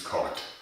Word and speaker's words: Korth: Now I know that Americans would probably like to pronounce as K, but the correct German pronunciation is Cart.